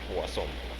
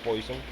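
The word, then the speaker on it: Poisson: tiene una pronunciación particular Así que la forma correcta de pronunciar el apellido del señor es poasón aunque se pueda leer poison pero esa es la forma correcta de pronunciar cuando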